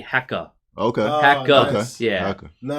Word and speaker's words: Hacker: Actually, they don't really pronounce the R. It's actually hecka.